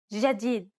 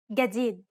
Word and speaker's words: جديد: In Egyptian Arabic, this letter is pronounced like a regular English G, as in game. Let's listen to the difference one more time. In Standard, جديد. and in Egyptian. جديد.